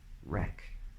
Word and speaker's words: wreck: combination in words like write or rap or rec or wrestle and things like this okay third